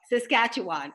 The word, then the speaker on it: Saskatchewan: kacho on how do you say Saskatchewan Oh Saskatchewan okay yeah and at a young age you